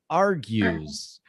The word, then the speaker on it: argues: facebook yes uh mark are our our grease argues our arguments yeah this is a terrible i